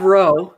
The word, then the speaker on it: Rowe: It's Rob Rowe with Rob Sentinel Rowe. Apologetics. And so I'll put you guys in touch. Like Rob Lowe, the actor. Yeah, exactly. It rhymes with Lowe.